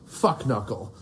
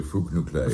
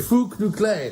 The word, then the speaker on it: Fuknuckle: His name is Professor Aloysius Fuknuckle. Is that how am I pronouncing it correctly? It should really be Fook-Noo-Klay. Fook-Noo-Klay, that's Yes.